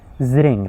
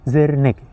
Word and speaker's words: Zring: Zring is a Kurdish name. You cannot say Zirnik. Oh my God. What is? It's the same spelling. Like Zirnik and Zring, they are the same spelling, but pronounced in a different way. Pronounced differently, right? So Zring is the correct form.